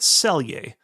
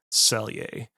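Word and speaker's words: Celje: of it uh spelled C E L J pronounced Selier. So, Liubiana and Selier.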